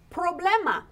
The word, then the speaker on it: problema: All we have to say is problema. Problema. We just added an A on the end. Mm-hmm. And don't forget to roll your R.